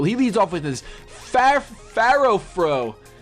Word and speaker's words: Furfrou: He leads off with this Pharaoh-Fru. I don't know how you pronounce it. I'm gonna call it Pharaoh-Fru. He leads off with Pharaoh, and that's awesome. Furfrou. That's how we call it.